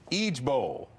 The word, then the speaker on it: IJBOL: Apparently, you pronounce it Eej Bowl.